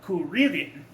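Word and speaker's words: クリリン: In Japan, they pronounce it Kuririn. So there's that extra syllable in the middle there.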